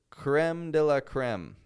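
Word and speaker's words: crème de la crème: to consider today is creme de La Creme that's how Americans say it and I know any french listeners that I have are grinding their teeth and clenching their fists hearing me say it like that crela crem it's the crema crem that's what we Americans say sorry it's not as fancy as the French way but it's what we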